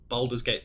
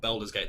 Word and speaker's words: Baldur's Gate: they debuted they announced boulders gate 3 or baldur's gate 3 depending on how you want to pronounce the game and the oldest gate